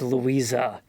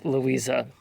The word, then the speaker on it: Louise: that Louise in German should really be pronounced Louisa. So we we were way past the point of being able to fix that when I realized that. But it should be Louisa.